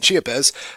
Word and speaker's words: Chiapas: In Chiapas, am I pronouncing that right, by the way? Yeah. In Chiapas, the southernmost state of Mexico, the insidious entity